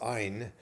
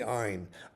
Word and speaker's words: Ein: Now, sometimes the N part, it's really pronounced Ein, but a lot of times it's spelled E-N or N. Okay, quite often you see that, but it's really Ein, because Ein means spring, and Gedi means wild goats.